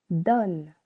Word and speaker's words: donne: Here, donne, only 1 syllable. Letter O needs to change its sounds to O because of the double consonant.